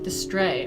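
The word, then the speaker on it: distrait: Distray. Okay. So, the T is silent.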